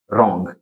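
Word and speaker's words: wrong: देख सकते हैं अपन डब्लू डब्लू के बाद आर तो यहां पे डब्लू जो रहेगा वो साउंड नहीं आएगा पढ़ेंगे क्या अपन इसको रंग ठीक है यहां प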